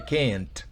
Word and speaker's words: can't: final cuando dije I can't, porque realmente no es así. Esa T es una de las pocas excepciones en inglés donde no se pronuncia claramente al final.